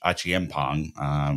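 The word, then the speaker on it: Acheampong: Between him, Tyreek George, and Josh Achiempong, which is the better way to pronounce it than what I was saying earlier, these are the next three, right, that are pretty clearly going to come through.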